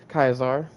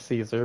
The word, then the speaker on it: Caesar: And uh McCauley Kulkin also is the new Kaizar as they call it, you know, even though it's totally Caesar, but they don't say it right. They call it Kaizar even though it's still spelled exactly like Caesar, but whatever.